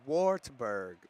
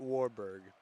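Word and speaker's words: Wartburg: Oh, it's Wartsburg. Not Warberg. It's Wartberg. My bad. I mispronounced the title or the the college name, but looking pretty solid right here.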